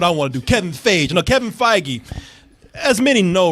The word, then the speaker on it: Feige: It's Kevin Feige. They're okay. Yeah, you were pronouncing like it was yogurt. Yeah. Feige.